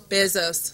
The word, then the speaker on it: Bezos: us a presentation on the Bezos, did I pronounce it correctly? Bezos, thank you.